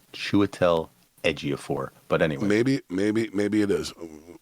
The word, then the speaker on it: Chiwetel Ejiofor: Okay, listen to this cast: Casey Affleck, Chiwetel Ejiofor, Anthony Mackie, Aaron Paul, Woody Harrelson, Kate Winslet, Gal Gadot, Norman Reedus, Michael Kenneth Williams, Clifton Collins Jr.